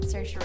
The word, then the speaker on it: Saoirse: Next up is the movie "Lady Bird" with sher- *tries to pronounce her name*, Saoirse Ronan something like that. "My name is Saoirse Ronan" It's spelt insanely.